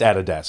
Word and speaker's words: Adidas: And and so yeah, Adidas. That's how you say it. It's Adidas. It's not Adidas.